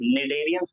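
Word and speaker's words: Cnidarians: वो निडेरियंस को बिलोंग करते हैं। ठीक है? इसमें जो ये सी लिखा है ये साइलेंट होता है। तो इसको मैं प्रोनाउंस कैसे करता हूं? निडेरियंस प्रोनाउंस करता हूं।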